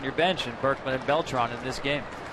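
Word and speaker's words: Beltrán: here in the eight there's beltron that's the way he likes it pronounced by the way although he'll accept Bel TR with Tom verduchi Ken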